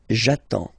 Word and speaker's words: attends: So the first form will be j'attends, j'attends. Okay, you get D and S, well basically you don't pronounce them, okay, and then you get only the sound attends, nasal here, en, j'attends, okay.